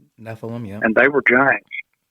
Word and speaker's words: Nephilim: I think I'm pronouncing that right. Nephilim, yeah.